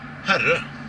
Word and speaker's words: Herre: It's called Herre. Herre? It's pronounced like, well, it's pronounced just the way